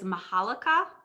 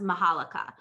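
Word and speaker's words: Majolica: pronouncing it correctly because when you see it it has a j in it but i think it's pronounced mahalika okay um so generally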